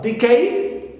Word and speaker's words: decade: Also decade, although it ends with aid, but we stress the first syllable d and not cade, the suffix.